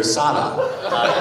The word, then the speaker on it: Sala: And she told me that she was really supposed to be named Sarah, S-A-R-A, but her parents kept calling her Sala because of the accent.